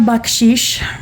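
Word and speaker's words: bacșiș: So then we have bakshish. Baksh. Um, bach is like the composer bach, but you pronounce that c very strong.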